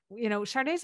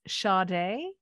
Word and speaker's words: Sade: a long time, and the pronunciation of her name to those of us in North America has always been like an invisible R in the middle of her name, Sade.